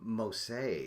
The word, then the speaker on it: Moose: And Bob's saying he pronounces his name Mose.